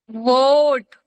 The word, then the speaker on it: vote: hmm, Vote. Vote. Vote. Vote. Vote. Like the vote. Not like this. Vote. Vote. Vote. People gives a vote. We Yes. Vote. Vote. Vote. vote. O. T. Vote. E is silent.